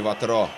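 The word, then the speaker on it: Vautrot: Честно говоря, вот не знаю, как правильно ставить ударение «Вотро» или «Ватро». Все-таки на французский манер, наверное, на последний слог. Будем называть его «Мишель Ватро».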